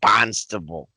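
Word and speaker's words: Barnstable: it looks like barnes it looks like barn stable it is barn stable but we say bonstable that's awesome let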